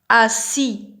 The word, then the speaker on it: assis: يعني با هي جالسة، إذا كان ذكر نقول أو رجل نقول assis نحذف الأو نترك الأس. assis جالس، والأس لا تنطق إذا كان في المذكر. إذن بما أنها مؤنث نضيف الأو ونقول est assise pas جالسة.